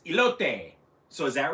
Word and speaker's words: elote: let's see here um you pronounce the e at the end of e oh so it's not elote because to me when you're when you have the e at the end then you know uh that o would be you know very much pronounced so to me it would be a lope but it's ilote so